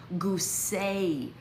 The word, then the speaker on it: Goose: That's pronounced gooseay.